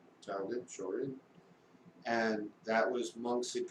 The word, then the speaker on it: Shorin: And one of the two styles I've trained in karate is called Shorin Ryu, and Shorin is the Okinawan pronunciation of Shaolin. Shaolin, Shorin.